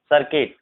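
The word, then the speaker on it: circuit: पर जो है डायलॉग, इस तरह के जो वर्ड है इन सब में जो है यू साइलेंट होता है, यानी यू के जस्ट बाद अगर कोई सा भी इसमें से चार लेटर में से कोई सा भी अगर आता है तो यू साइलेंट होता है, ध्यान रखना।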